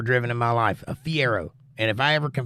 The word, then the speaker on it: Fiero: not Ferrari the other one the little one Fiero that's it that's a fun car A friend